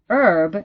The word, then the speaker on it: herb: go an historic right I'm sure you've seen that with herb in American English pronunciation that changes because simply you say an herb in American English because herb in herb the H is not pronounced whereas in British English the a is pronounced so you speak of a herb right because you pronounce that age finally from from this